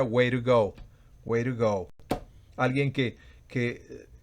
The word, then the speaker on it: way to go: go literalmente el puedes lentamente sería way to go pero se pronuncia wire go where go alguien que